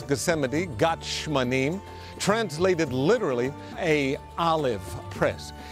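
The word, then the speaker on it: גת שמנים: In Hebrew, we pronounce Gethsemane, Gethsemane, translated literally, a olive press.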